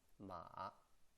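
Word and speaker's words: 馬: writing is like this it's called horse the pronunciation is ma if you have learned a little bit manding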